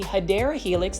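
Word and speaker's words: Hedera helix: I've tried it multiple times and just like hedra helix or what you call the hideera helix that's the correct way to say English ivol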